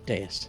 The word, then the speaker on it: Deus: or yeah, Deus, Spell that for me. Deus. Oh, Deus.